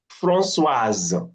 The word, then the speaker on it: Françoise: Françoise, the S has become Z now, in between two mm, vowels.